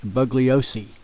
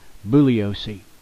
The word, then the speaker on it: Bugliosi: have heard of Vincent bugliosi or buosi I think the g is silent buosi well he knows uh